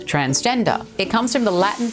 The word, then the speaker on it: transgender: transgender first of all the word is transgender not transgendered or transgender a common mispronunciation but it means that